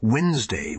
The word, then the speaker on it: Wednesday: the adventures he had Wednesday which was once wooden's day is named after him that is why there is a letter D in this word although we don't pronounce it after Warden Thor was